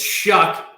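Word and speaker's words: Shough: who is oregon transfer tyler show you will hear it pronounced shot however it is it is like pizza dough so he is tyler's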